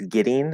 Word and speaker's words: getting: who you ask right the way i pronounce getting is with ian at the end right um but other speakers will use ing with the in the back if you use that